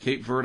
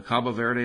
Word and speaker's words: Cabo Verde: that get deposited on the cape verde islands or the cabo verde islands depending on which pronunciation you prefer and the fishermen out